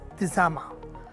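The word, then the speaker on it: تسامح: The word in Arabic is pronounced as tisama.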